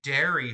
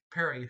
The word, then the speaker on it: Perry: He said they were looking for someone named Derry, whoever that is. Narrator. Perry is suddenly greatly annoyed. They're looking for me. Franz. Oh, that makes sense. Isaac just pronounced Perry's name wrong. Perry.